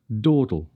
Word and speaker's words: dawdle: Did you notice the second D in dawdle? It's laterally... Well, there's a word we need to practice, don't we, Bennett? Laterally released, like the T in little.